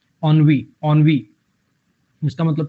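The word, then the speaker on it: ennui: इसकी प्रोनाउंसिएशन है ऑनवी, ऑनवी, ऑनवी, ऑनवी, ऐसे करके, ठीक है।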